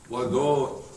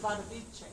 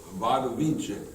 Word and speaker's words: Wadowice: So, Pope John Paul II was, of course, Karol Wojtyła, born in a Polish village of, Ładowice. What? It's pronounced Wadowice. Wadowice, yeah, that's right, Wadowice.